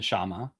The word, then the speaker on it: Kshama: Kshama Sawant on. No K. Sorry. The K is silent.